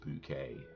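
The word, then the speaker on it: Bucket: in it this is bouquet Lady of the house weekend yeah okay as that's pronounced spelled b-u-c-k-e-t but it's pronounced bouquet mother Robbie's boyfriend is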